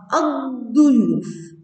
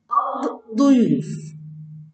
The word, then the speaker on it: الضيوف: إذا دخلت على كلمة ضيوف تنطق الضيوف الضيوف الضيوف، لا تنطق اللام ولكن يشدد الحرف الذي بعد اللام أي ينطق مرتين.